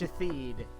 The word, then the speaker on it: Shatheed: to have a fit, it's literally a guy whose name is spelled shithead, but it's pronounced Shatheed.